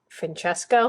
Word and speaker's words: Francesco: And you knew him as Frank, but his real name was, I said the name wrong and people corrected me. I did it like a Spanish pronunciation, but it's like, they said it's Francesco.